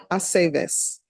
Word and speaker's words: Aceves: It's always ve. Aceves.